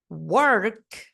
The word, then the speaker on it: work: tem dificuldade em falar a palavra por exemplo work né já que a gente tem que dar essa embolada aí na língua work work work Ai